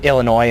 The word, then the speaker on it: Illinois: It's like Illinois in the East. It's like the S is silent, stupid.